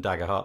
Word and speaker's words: Daggerhart: have Jonathan dagger heart I'm gonna say Jonathan dagger heart have I pronounced your surname correctly Jonathan that's correct hey